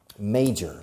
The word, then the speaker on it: major: Now, major, la pronunciación, major, se escribe major, pero se pronuncia may, como el mes de mayo en inglés, major.